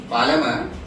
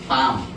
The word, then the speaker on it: palm: Pronunciation is what? ಪಾಲಮ. ಎಲ್ಲಿ ಸಾಯಿಸ್ ಬಿಟ್ಟಾರ ಅವರು, ವಿಚ್ ಮೀನ್ಸ್ ಸೈಲೆಂಟ್ ಮಾಡ್ಯಾರ. ಪಾಮ್ word ಏನಿದ್ರಿ, ಪಾಮ್.